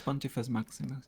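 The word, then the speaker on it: Pontifex Maximus: Is that pronounced properly? It's Pontifice Maximus.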